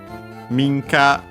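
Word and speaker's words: 民家: uh minka uh means uh private house uh accent on the first mo.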